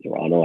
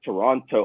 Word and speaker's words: Toronto: us they pronounce because in canada we don't pronounce like the second cheese in most of our statements so they're like toronto oh you're from toronto and i'm like you know we call it toronto but sure oh my gosh canadians